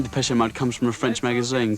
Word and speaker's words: Depeche Mode: And we chopped off the accent and we just kept the pronunciation. Maybe I can show you just how. Depeche Mode show just how much futurism has changed now it's hit Essex.